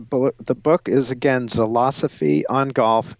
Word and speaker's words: Zilosophy: the book is again selasa fee on golf it's spelled like philosophy but with a Z instead of a pH it's a play on